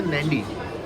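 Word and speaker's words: Nadi: tourist spot है और दूसरा इसकी स्पेलिंग है एन डी आई लेकिन इसे प्रोनाउंस करते हैं नंडी जहां पर हम इस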